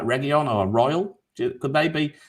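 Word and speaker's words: Reguilón: There's just one player I'm probably going to mention, and I'm probably going to say it wrong. Reguilon, or as Gabe says, Reguilon. There we go. That's how you say it properly.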